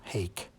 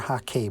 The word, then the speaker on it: hake: So now I've switched over to the medium small Hake, or Hake brush for those of you who want an exact pronunciation.